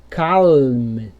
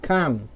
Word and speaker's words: calm: Então, essa palavra aqui, ó, você não vai falar assim, ó, calm, beleza? Ó, você vai falar calm, beleza? Não vai ter esse L.